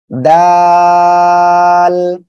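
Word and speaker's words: دال: এ অক্ষরটা জিব্বার আগা সামনের উপরের এই যে দুই দাঁতের আগার সঙ্গে লাগিয়ে উচ্চারণ হবে, দাল। এটা হলো নরম করে উচ্চারণ হবে।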